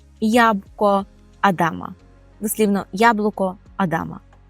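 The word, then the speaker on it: jabłko Adama: ж адамове яблуко і то по порску ест ябко Адама ябко Адама дослівно яблуко Адама і вже Останнє слово яке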